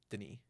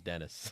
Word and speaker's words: Denis: V it's like viu they just call him Deni Deni yeah all right I thought it was Dennis what's up Dennis Denise